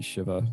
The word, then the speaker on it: Shiva: very first time that you use as they pronounce it shiva it should be shiva that's actually how it's pronounced the first time